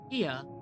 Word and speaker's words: Ia: When the privation of local folks was still required to convey our thoughts and attention, Ia, I believe, is the pronunciation used when referring to our people.